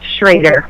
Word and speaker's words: Schroder: saying it wrong it's it's spelled schroer but pronounced shraer okay we have Coach B in the office